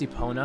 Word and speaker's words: Epona: It's pronounced Epona, I think you know that.